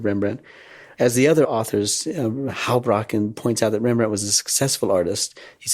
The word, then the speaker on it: Houbraken: Well, now we'll turn to the third author, Arnold Houbraken. Pronounce it for me. Arnold Houbraken.